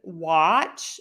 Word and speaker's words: watch: all right let's see the a in watch is it an A or an o I'm going to say it's a short o sound ah it's not a as in watch so it's not that short a it's the short o in watch I hope that helps